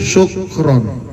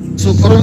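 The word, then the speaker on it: شكرا: kata sakaro yaskuru Syukron hati-hati bacanya kalau menggunakan syin sakaro dia berterima kasih Terkadang ada orang yang baca menggunakan Sin Sekaran Sukron artinya mabok kalau Sukron kasiron itu mabok yang berpecah-pecah syukran berterima kasih Kalau sykron mabok katiron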